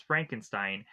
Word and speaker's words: Frankenstein: As the two of them meet, we of course have Igore who says uh Frederick Frankenstein's name is Frankenstein and he's no it's pronounced Frankenstein.